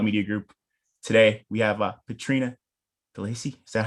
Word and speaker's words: Petrina Delacey: Today we have Petrina Delacey.